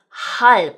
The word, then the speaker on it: halb: Or in the word 'halb' (halp) for half. That's making a 'p' sound, not a 'b' sound, A 'g' making a 'k' sound such as in 'Tag' (tock).